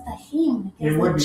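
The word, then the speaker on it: Tajín: Tagine should be pronounced tahin. It would be J. Tagine is an Indian oven. Tagine with a J. Yeah, tahin. Tahin. Yeah. Yes. So this would be tahin, not tagine.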